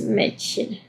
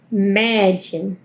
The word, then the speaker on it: Mädchen: No, das Mädchen. Me, me, me, Mädchen. O sea, estoy haciendo la boca de a y pronunciando la e.